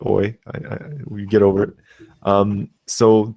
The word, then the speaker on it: Euler: I know it's spelled EU, but it's pronounced Oi.